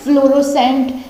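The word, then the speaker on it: fluorescent: Next आता है फ्लोरोसेंट, ठीक है, फ्लोरोसेंट ऐसे बोलेंगे, सी साइलेंट रहा, एस का यूज हमने किया, फ्लोरोसेंट।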